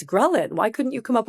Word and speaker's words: ghrelin: So ghrelin signals hunger.